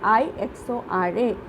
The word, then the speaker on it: Ixora: Ixora, IXORA. It pronounced like Ixora.